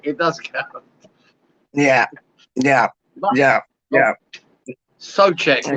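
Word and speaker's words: Souček: Unfortunately for Suchek, it does count. Yeah. Sochek. We should call him Sochek because that's the proper pronunciation.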